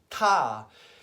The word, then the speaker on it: ta: is a sign called tah and it's spelled ta but you pronounce it by putting your tongue between your two front teeth like this table and